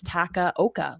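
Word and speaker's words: Takaoka: Maybe I've been saying it wrong, right? Like maybe there's like a nuance to it that you're supposed to pronounce like the middle part of his name with an I, but no, I checked Yap's site. It's Taka Oka.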